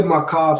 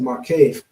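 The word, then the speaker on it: מקף: I wanted to also just jump in and say, when we see the Makav, some people pronounce it Markave.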